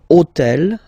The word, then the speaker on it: hôtel: took on purpose this hôtel, okay, because it starts with H, but remember that in French we don't pronounce H, okay, so basically the first sound of the word is the vowel O, okay, so for the